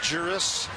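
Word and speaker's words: Jeurys: in seven at bats against jurus Familia and by the way that's this year's pronunciation of his first name oh thanks jeris well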